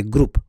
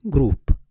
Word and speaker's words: group: a long vowel so you don't say group but you say group group not group this one again a